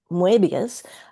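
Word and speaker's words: Moebius: So, um, I've just I I've just translated a section where he he spends three or four pages with Mobius, which is actually in French pronounced Muabius.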